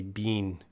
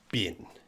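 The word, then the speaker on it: been: But this word here, bean, native speakers actually don't say bean. More common to say bin.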